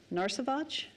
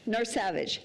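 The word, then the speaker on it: Narsavage: Daniel and oh I forget how to say his last name narage whatever and Katherine picket I know I just totally messed it up okay how do you say it n Savage Nar Savage thank you and it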